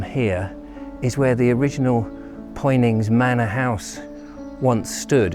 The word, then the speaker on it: Poynings: uh before we go into pointings itself or punnings as i think the people pronounce it and somebody can correct me there's a path that